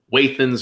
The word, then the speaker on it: Wathen's: Yeah, I've met a guy who's an artist, and he's like a third generation non-distiller, and he pronounces it Wathen. So I go with Wathen.